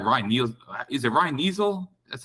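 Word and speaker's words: Neuzil: Is it Ryan Neasel? That's how you say his name? Newsel.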